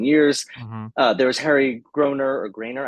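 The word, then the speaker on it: Groener: There was Harry Grainer, I don't know how to pronounce it. I think it's Groner. Groner for Crazy for You.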